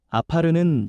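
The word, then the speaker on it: עָפָר: 먼저 여기서 흙이라는 말은 히브리어 발음으로 아파르입니다. 아파르는 연약하고 쉽게 부서지는 존재를 뜻합니다.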